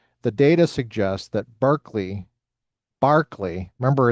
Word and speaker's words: Berkeley: philosophy department at Berkeley, you're going to study Barkley, who is the namesake of Berkeley. And they're not going to explain the disparity in pronunciation to you.